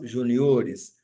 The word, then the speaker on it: juniores: Alguns substantivos terminados em R mudam a sílaba tônica no plural. Junior faz juniores.